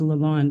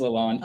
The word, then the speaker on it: Leon: Because I always thought it was Leand. I know your father. It is Leon.